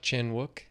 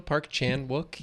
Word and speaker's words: Chan-wook: Park Chenwuk. Chen. Did I say it right on the video I put out? I think so. Parkchan Wook.